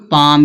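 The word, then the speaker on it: palm: फिर यहां दिया है पाम। इसको पाल में नहीं पड़ेंगे। क्यों? क्यों नहीं पाल में पढ़ा जाएगा? क्योंकि एम से पहले एल जब आएगा तो एल क्या होगा? साइलेंट होगा। इसको क्या पढ़ेंगे? पाम।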